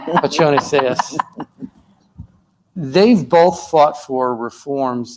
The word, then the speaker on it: Pacione-Zayas: And to Senator Lightford and Senator Pacione-Zayas, if I mispronounced it, Pacione should be Italian, right? With a C-I-Ch. Right. Pacione-Zayas. Pacione-Zayas.